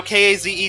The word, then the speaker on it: Kaze: in this game now k-a-z-e to me uh that spells k's so uh i'm probably i'm pretty sure i'm saying it wrong in fact the developers of the game have confirmed that it is supposed to be kaze but go ahead and